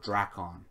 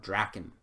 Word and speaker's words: Draken: This whole time I was saying Lord Drakon. And I kind of like Lord Drakon better than Lord Draken. But apparently the right pronunciation of it is Lord Draken.